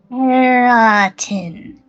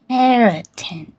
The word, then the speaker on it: keratin: So it's care like you care about someone and it's and then a tin like a little piece of metal. Keratin. Keratin. Keratin.